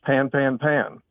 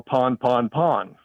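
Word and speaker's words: pan-pan: Well, the discussion was, is it pronounced pan, pan, pan, or pon, pon, pon? The group that said pon said this is derived from the French word pon, which means breakdown.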